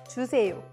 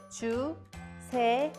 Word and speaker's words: 주세요: Let's first practice the pronunciation of 주세요. 주세요. 주세요.